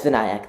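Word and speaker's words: Vinayak: and uh welcome uh VNC am I pronouncing your name correctly um no but it's not a problem sorry how do you say your name uh uh it's vanc thank you for asking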